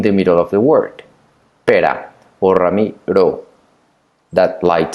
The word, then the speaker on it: pera: hit ramiro for example pera which is pure perra the one hit the light sound the strong sound but notice that you